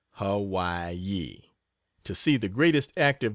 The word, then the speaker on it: Hawaii: again, and thence to the island of Hawaii, pronounced Hawaii, to see the greatest active volcano in the